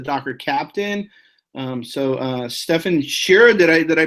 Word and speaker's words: Stefan Scherer: podcast with a Docker Captain um so uh Stefan Sher did I did I pronounce that right Stefan yes that's correct John